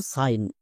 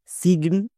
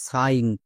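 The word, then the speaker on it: sign: দেখবা যেমন দেখো সাইন একে ভুল করে কেউ কেউ উচ্চারণ করে সিগ্ন বা সাইন কিন্তু এর সঠিক উচ্চারণ কোনটা চলো দেখে নিই এস এর জন্য দন্তস প্লাস আই জি এন এটা হচ্ছে ওয়াট প্যাটেন এর জন্য উচ্চারণ হয় আইন তাহলে দন্তস প্লাস আইন কি হবে সাইন সো ভুল করেও আমরা সিগন্য উচ্চারণ করবো না আরো কয়েকটি ওয়ার্ড দেখো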